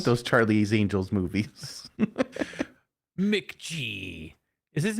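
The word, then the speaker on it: McG: those Charlie's Angels movies MC G is his name MC G I never heard anyone pronounce it it's MC know it's MC G MC G Rob Zombie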